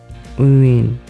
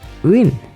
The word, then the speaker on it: Nguyen: First, lower down your voice, uin. Then raise it up very quickly, like uin, uin, uin, uin, uin, uin.